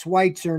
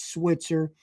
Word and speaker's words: Schwitzer: It's Schwitzer, not Switzer.